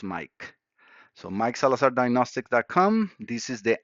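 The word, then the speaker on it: Maic: My name is spelled as M-A-I-C. It sounds as Mike.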